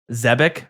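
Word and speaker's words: Zebak: How would you pronounce pronounce zed e b a k z e b a k zebec? Yeah, zebic. That's good. Okay, zbake.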